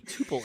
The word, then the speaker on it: tuple: in it and uh or a tuple however you want to pronounce that all right okay so if i have five that's how many if you wait penty pull it's couple but it's tuple not tuple anyway i've got a